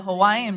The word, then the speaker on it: Hawaii: and that's how you say it. Hawaii, like something like With a little bit of a V?